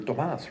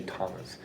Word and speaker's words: Tomas: my name because you're tomas right he actually pronounced it right because most people say thomas but uh he pronounced